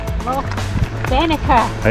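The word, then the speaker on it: Loch Venachar: Loch Venacher. Yes, well pronounced.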